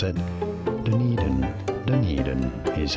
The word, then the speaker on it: Dunedin: Anyhow, how do you pronounce it? Dunedin. Dunedin is how it is said.